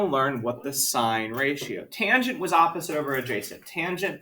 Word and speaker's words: tangent: And tan is still tangent.